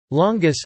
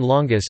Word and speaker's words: lángos: Lángos (Hungarian pronunciation: la-o, Turkish: lalanga) is a Hungarian food speciality, a deep-fried dough.